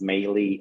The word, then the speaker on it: Melih: to reach me uh and my name is melee Australia which is spelled m-e-l-i-h and my last name is azte